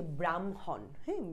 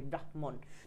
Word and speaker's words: ব্রাহ্মণ: নাকে একুচার হবে যেমন এটা হচ্ছে ব্রাহ্মণ ব্রাহ্মণ এরকম আমরা বলি ব্রাহ্মণ একটা হ একটা ম প্রথমটা ব্রাহ এরকম উচ্চারণ হবে হ অর্ধেক তারপর একটা ম ফুল উচ্চারণ হবে ব্রাহ্মণ এরকম এটা দ আর